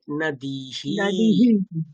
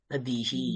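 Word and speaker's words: নদীঃ: তাহলে উচ্চারণটা কি হবে? হি, দীর্ঘী। ইনিশিয়াল স্টেজে আমরা এরকম উচ্চারণ করতে পারি, হি। তাহলে কি হবে? নদী তো এরকম তো ছিলই, তারপরে নদীহি, নদীহি।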